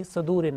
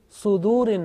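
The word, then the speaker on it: صدور: Now this Saad, sometime pronounced unintentionally with Fatha, like Yuwaswisu fi Sadurin Nas. So make sure that this Saad, whenever you teach to others, this Saad is with Dhamma.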